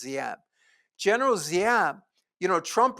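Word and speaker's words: Giáp: His name is G Gap. It's pronounced Zap.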